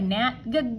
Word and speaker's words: gnat: And we know that we're going to have that silent G, like go away, gnat, go away.